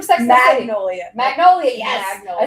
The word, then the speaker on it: Magnolia: That to me, like it's screaming Mongolia's Bakery, here in New York.